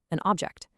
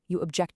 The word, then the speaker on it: object: So if you're using the word as a noun, like a physical thing, you stress the first syllable, an attribute, a record, an object. But if you use that exact same word as an action, a verb, the stress shifts over to the second syllable.